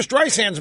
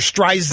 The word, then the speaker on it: Streisand: it mispronounces her name it calls her strides and instead of Streisand the the soft s is pronounced as a Z by ceri so she said she